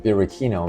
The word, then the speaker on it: Birichino: The name Birkino, pronounced Birkino, means naughty or mischievous in Italian.